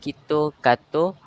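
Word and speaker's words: キットカット: Pronounced as Kito Kato, the chocolate name is similar to the phrase surely winning, making it a good candidate for a good luck charm.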